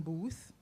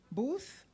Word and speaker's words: Booth: So he often gets Boot instead of Booth. Did I pronounce it correctly, sir? Booth.